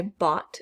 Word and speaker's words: bought: hear that t fasten bot i bought something from the store that gh is silent brought i brought something